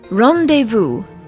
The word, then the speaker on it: rendezvous: not be sounded out a similar word with silent consonants would be rendezvous rendezvous some people tend to